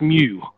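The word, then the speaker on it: μ: of little curly q you pronounced Mew Mew kind of like across between the cat and the cow I think you know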